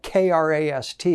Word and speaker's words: Krast: It's spelled K-R-A-S-T. It's pronounced Krast, the Krast garment. And I like to joke, that's how we pronounce Christ here in Nashville.